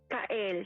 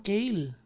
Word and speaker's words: Kael: Kael. C-A-E-L. Parang Kale. Opo. Parang ganun po yung pronunciation.